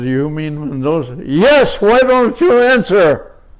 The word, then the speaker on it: Mendoza: For example, my name is Mendoza. And Mendoza, it's it's spelled, you know, how can you Yeah. Mandoa.